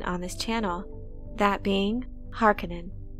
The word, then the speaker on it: Harkonnen: this channel that being harkanen we'll start by listening to how the author frank herbert himself pronounced this name this snippet comes from